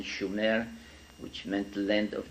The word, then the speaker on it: Sumer: called sooner in in the correct spelling and pronunciation sooner which meant the length of the Guardians in